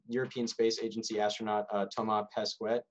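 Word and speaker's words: Thomas Pesquet: space agency astronaut uh toma pesquet or pesquet i believe is how it would be pronounced in french we'll make a six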